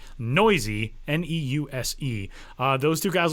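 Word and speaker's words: Neuse: Jorge Matteo and Sheldon Noisy, which by the way, if you've looked at Sheldon's last name and wondered how do you say that? Noisy.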